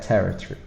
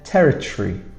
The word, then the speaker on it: territory: And then territory. We don't really say this O in the middle.